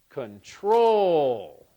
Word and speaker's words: control: first syllable stress control if I stress the second syllable control control control which one sounds better I think it sounds best as control so the stress on